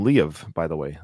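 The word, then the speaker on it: Liev: Ed pronounced his name Le of by the way like he actually gave it two syllables really yeah in his book so maybe that is how it's pronounced I've always said leave shriber too I think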